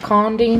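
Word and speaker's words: Karndean: Is it Carndine? Is that how you say it?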